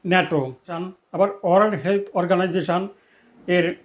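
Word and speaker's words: NATO: কিন্তু এর উচ্চারণ এনটিও হবে না। এর উচ্চারণ হবে শব্দের ন্যায় ন্যাটো।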